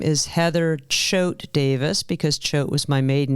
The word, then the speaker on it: Heather Choate Davis: your full name Heather my full name is Heather Choate Davis because Choate was my maiden name I usually